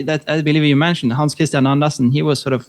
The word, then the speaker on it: Hans Kristian: How do I pronounce it correctly? Hans Kristian, how are you? Hans Kristian, yes.